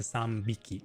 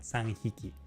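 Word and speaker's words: さんびき: it's a B instead of an H after the N, which is why they changed it to sambiki and not sanghiki. So, it's a little, you know, less logical, but it is easier to pronounce in everyday language when you're speaking once you're used to it.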